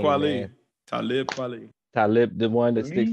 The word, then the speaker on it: Talib Kweli: Talib Kweli. Leap. Talib Kweli. Every time I read it, it just come out Talib Kweli. Because to me, it's supposed to rhyme with Kweli, but it's Talib.